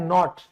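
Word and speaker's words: knot: उसे कहा जाता है नॉट तो के साइलेंट है नॉट ठीक है क्लियर याद रहेगा कहां-कहां साइलेंट होगा।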